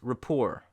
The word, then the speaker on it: rapport: word from French is rapport where the T is silent at the end of the word because it come it